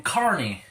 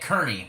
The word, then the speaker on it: Kearney: Alright, so we are in Kearney, Nebraska now. And I keep pronouncing it Kearney because of how it's spelled, but it is pronounced Kearney, Nebraska.